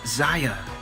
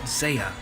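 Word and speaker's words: Xayah: rockin as well as Zeya dude what it's pronounced Ziya not Seiya oh oh okay yeah we saw we have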